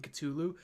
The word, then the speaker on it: Cthulhu: by the way Jody that pronunciation of the th like in culu is pretty much how the Greek letter Theta was pronounced in ancient Greek you know what T